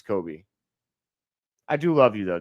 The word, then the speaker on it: Coby: Coby is spelled without the L. It's Coby, like Kobe Bryant, but Coby White. I don't know why everyone calls him Colby.